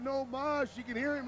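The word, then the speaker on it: no más: already said i quit no mass no mas fione's in spanish it's no moss he means i quit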